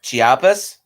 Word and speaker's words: Chiapas: an oil field in chiapas mexico or pardon if i butcher that i'm not super good at latino words and hires him huh no that was fine you said it right chiapas and he hires earl